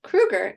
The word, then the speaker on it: Kruger: hour with Anna gold and my guest Krueger am I pronouncing your last name correctly that is